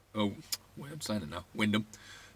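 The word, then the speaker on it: Wymondham: a job back to wyndham or wyman ham as it's spelled really annoying for me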